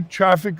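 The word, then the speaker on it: Traefik: You know, again, probably a Traffic Labs company that maybe a lot of our folks haven't heard of.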